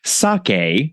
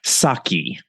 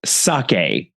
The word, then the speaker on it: sake: is pronounced more like sake, similar to okay, and not saki. Guilty as charged, listener. I definitely said sake on that episode, so sake, got it.